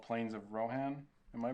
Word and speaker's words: Rohan: the this is the track called Plains of Rohan am I pronouncing that right yeah Rohan Rohan sorry it's an accent an accent Rohan